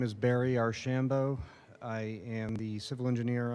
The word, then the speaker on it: Archambault: My name is Barry Archambault. I am the civil engineer on this project, working for. Can Yes, you just sir. say your last name again? Archambault.